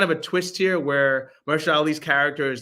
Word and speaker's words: Mahershala Ali: And then this black family by I want to make sure I pronounce this brother's name, Mahershala Ali.